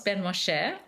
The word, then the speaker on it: Ben-Moshe: So my name is Ben-Moshe, and I am a laughter for wellbeing and positivity expert, author, and academic.